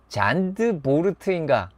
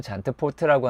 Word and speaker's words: Zandvoort: 자, 이것은 잔드보르트인가? 잔트포르트인가? 잔트푸르트인가? 잔트푸르드인가? 뒤에 발음 안 하게. 예. 잔보트인가? 뭐 어렵습니다. 그냥 저는 잔트포트라고 하는데 다른 발음이 틀렸다.